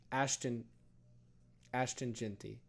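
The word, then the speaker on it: Ashton Jeanty: So far this season, Ashon Genty, or how you say his name? Ashton Genty.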